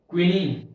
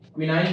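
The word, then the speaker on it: quinine: क्विनीन, क्विनाइन बोल सकते हो, क्विनीन बोल सकते हो, ठीक है। क्विनाइन, क्विनाइन, क्विनीन, तुम्हें प्रोनाउंस करना है, तुम्हें याद करना, मेन बात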